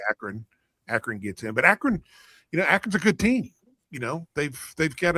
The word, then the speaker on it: Akron: Akron gets in, but Akron's a good team. They've got a. How do you say that school? Say it again. Akron. Oh, you said it a little differently the first time. Acorn.